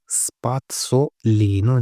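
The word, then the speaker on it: spazzolino: स्पात्सोलिनो जेड है, इसके लिए आधा तय आएगा स्पात्सोलिनो।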